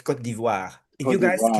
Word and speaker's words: Côte d'Ivoire: don't call Ivory Coast, it's Côte d'Ivoire. If you Côte guys d'Ivoire. can't pronounce Côte d'Ivoire by now, something's wrong with you, okay?